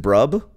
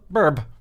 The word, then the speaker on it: BRB: But I've never known how to pronounce BRB. You know, burb. Is it burb? Sure. Is it brub? Burb. Burb. That makes sense.